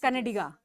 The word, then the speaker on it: Kannadiga: It's Karnataka, it's Kannada, Kannada, and yes, it's Kannadiga. So the A is very important.